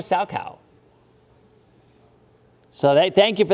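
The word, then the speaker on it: Salchow: on Thursday set so Jules said it's a sow cow and the fact that I pronounced that I think it's called a Sal cow so they thank you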